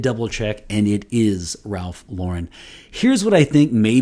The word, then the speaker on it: Ralph Lauren: is happening I mentioned that some people say Ralph luren and some people say Ralph Lauren um he is American so it's it should be Ralph Lauren I did double check and it is Ralph Lauren here's what I think may be happening uh